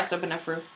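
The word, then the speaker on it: Sobekneferu: Sobenefru. Oh, so you just want to say the K. So no. Yeah, Sobenefru.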